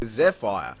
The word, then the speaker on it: Zephyr: Zephyr.